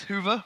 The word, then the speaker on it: Hyvä: The official version is Hoover, but you can pronounce it however you like.